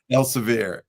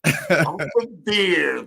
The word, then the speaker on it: Elsevier: How do you pronounce that? Elsevier. Elsevier.